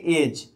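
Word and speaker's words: edge: जैसे देखिए डी के बाद यहाँ पे जी आ रहा है तो डी को साइलेंट कर दिया जाता है, इसको पढ़ेंगे एज।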